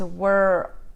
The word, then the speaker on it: world: So world can be difficult because it has the LD sound, but it's the same were, like work, world, and then it's world, world.